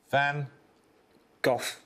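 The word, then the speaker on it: Van Gogh: Oxford Brooks Bellard Vanhoof Van Go. Yes, you're just pronouncing it correctly.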